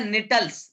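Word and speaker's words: Gnetales: जैसे निटल्स, यहां जी साइलेंट रहता है।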